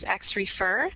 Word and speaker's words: Xrefer: In terms of our name, some of you may have known us as XRefer. That's how it's pronounced, although many people had some difficulty with that name.